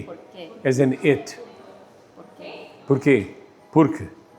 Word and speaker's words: porquê: The only difference is the circumflex, and the little Chinese hat. Accent on the wrong syllable.